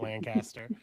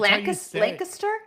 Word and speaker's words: Lancaster: She explained how to say Lancaster to me because I called it Lancaster. Wait, wait. What? I didn't know that that's Lancaster.